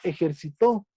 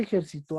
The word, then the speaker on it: ejercitó: La palabra ejercitó es una palabra aguda porque porque su posición de la sílaba tónica está al último. Juan ya se ejercitó ayer, pero no es